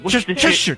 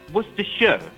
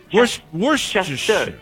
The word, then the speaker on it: Worcestershire: And it's not Cheshire or Worcestershire. Cheshire. It's Worcestershire. Worcestershire. Oh, God damn it, shut up.